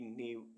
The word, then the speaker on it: knave: KNAVE नेव, नेव means गुलाम। ऐसे words जिनमें alphabet L silent रहता है।